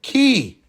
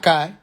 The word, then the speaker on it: Ki: Planet Ki, not Kai.